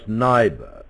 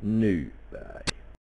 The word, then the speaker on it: Nyberg: The man to the left, which Englishmen would normally pronounce Nyberg, right, is actually Nyberg.